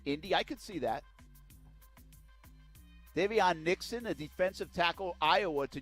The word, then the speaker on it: Davion Nixon: Davion Nixon, a defensive tackle, Iowa to Jacksonville at number 22.